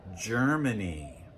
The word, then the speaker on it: Germany: Now, the letter G, especially at the beginning of a word, can also represent the J sound, especially if it comes before the letters E, I, or Y. Like in the country, Germany.